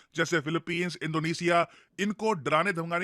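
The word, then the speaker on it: Philippines: है इंडिया के लिए फिलिपींस इसको फिलीपाइन नहीं प्रोनाउंस करते हैं हम काफी बार इंडिया में हम लोग फिलीपाइन बोल रहे होते हैं फिलिपींस देखिए एक बहुत ही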